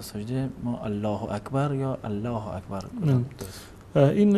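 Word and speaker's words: الله أكبر: عربی از نظر ادبیاتی اشتباه است و اون تلفظ صحیحش هم این است که باید بگ که الله اکبر منتها اگر کسی بنا بر اینکه نمیشناخت یا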